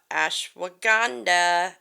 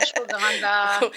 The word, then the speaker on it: Ashwagandha: So yeah, we're switching gears a little bit and we're going to talk about Ashwagandha. I said it right. Oh, I love Ashwagandha.